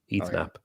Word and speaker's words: Knapp: Oh yeah, you don't pronounce the K. It's Eat Knapp. Eat Knapp.